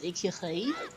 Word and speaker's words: écureuil: Cheval is horse, and good luck spelling or pronouncing the word for squirrel. It is écureuil.